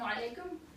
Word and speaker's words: alaikum: Actually, it's probably closer to the Y sound here than it is the E sound.